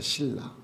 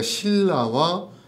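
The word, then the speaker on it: 실라: 중요한 메시지를 담고 있습니다 실루 아노라 사람은 아 헬라식 발음이에요 유대식 발음으로는 신라입니다 신라 그 신라와 실로하는 동일 인물입니다 실는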